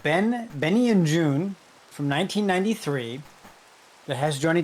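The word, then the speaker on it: Joon: And June is spelled J O O N. June.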